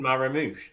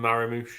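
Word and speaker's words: Marmoush: be fair I think his mates do call him maram yeah Maro we'll go with marush we'll pronounce it correctly we'll do it right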